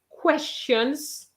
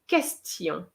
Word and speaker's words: question: between two vowels and some student says questions instead of question okay it's not like spanish okay it's question question so very often the